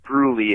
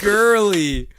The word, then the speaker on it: Gurley: And it's not Gruely, it's Todd Gurley. A really good running back. Gurley. Not Gruely or Gruel.